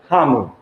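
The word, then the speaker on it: ハム: So ham, because it's a Western word, in Japanese is pronounced as hamu.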